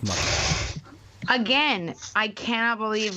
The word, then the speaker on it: Motel: Taylor to people who have no idea what I'm talking about like starting with the name is not pronounced Motel it's pronounced mo again I can't believe